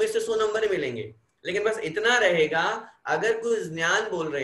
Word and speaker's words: ऋ: तो बड़े बड़े संस्कृतज्ञ व्याकरणज्ञ बोलते हैं हकीकत ये है कि इसका उच्चारण वर्तमान में लुप्त हो गया, किसी को भी नहीं आता। अब परंपरा से अपन इसको री बोलते आए हैं, कै के नीचे री